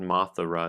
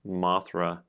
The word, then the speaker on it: Mothra: And of course, I added an extra syllable in there because it's not Mothra, it's Mothra.